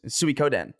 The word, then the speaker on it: Suikoden: He would emphasize the Koden part. Suikoden. Suikoden. Yeah. It's Suikoden.